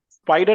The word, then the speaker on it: SPIDR: is the spider taking spider means it's not spider actually the spelling is s p i d e r right a normal spider but just for pronunciation I have mentioned spider yes p i d